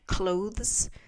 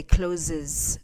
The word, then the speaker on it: clothes: lot with communication so I've noticed that a lot of people learning English who speak French have trouble with the word a word like clothes they say closes um it's the sound